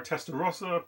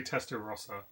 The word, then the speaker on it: Testarossa: And we're obviously going to go with the Ferrari Testarossa because, or Testarossa, depending on I guess how you want to pronounce it. But I say Testarossa, and we're gonna give it a go now.